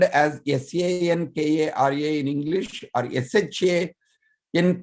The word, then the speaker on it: Shankara: it is spelled as s-a-n-k-a-r-a in english or s-h-a in k-a-r-a it is to be pronounced as sankara like from the tip of the tongue front of the mouth he is sankara like